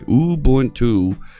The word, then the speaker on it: Ubuntu: So let's start using a little bit of Ubuntu Linux, and it's important you say it that way, Ubuntu, because that's the way it's pronounced.